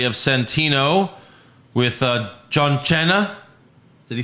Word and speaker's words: Cena: mma guy uh chris deburne push fireberry wrestlers mispronouncing names uh we have centino with uh john cena did he say john china what was it john chaina john china william